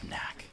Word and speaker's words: NACC: It's pronounced NACC. Or like NASC if you want to do like a soft C for one of them.